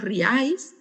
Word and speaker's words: riáis: Riáis es monosílaba. Parece que es una mentira, ¿no? Pero es una palabra monosilábica. Es solamente una sílaba. Porque tiene un triptongo, por eso nos parece que no es así, pero sí lo es.